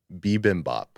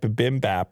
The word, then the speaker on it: bibimbap: it what was it though i can't remember bibimbap bibimbap and i said bimbap or something yeah i said i said uh